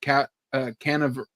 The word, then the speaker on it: Canaveral: rocket that had blasted off earlier from Cape Canaveral.